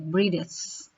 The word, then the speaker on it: British: Jadi T dibaca D. British.